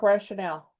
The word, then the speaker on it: rationale: Pronunciation is rationale, by the way. Oh, you're right. Rationale, not rational.